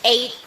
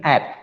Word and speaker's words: add: Menambahkan, it's an add, not aid. That's what aid itu adalah bantuan. So that is the problem with the pronunciation, right? So it's add, can add happiness. Jadi bukan aid.